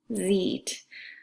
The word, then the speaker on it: sieht: Outside of Oklahoma, it becomes du siehst and er sie und es sieht. So remember, when two vowels go walking, the second one does the talking. So you're putting that emphasis on the E.